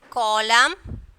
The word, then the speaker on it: column: Column, CO. Okay, COLOUNM, column, and then autumn. Okay, N is silent. So in these three words, N is silent, condemn, column, and then autumn.